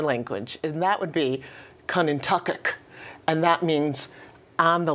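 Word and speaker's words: Quinnehtukqut: The place we now call Connecticut has its name in Algonquin roots, and it's called Quinnintucket. However, Quinnintucket.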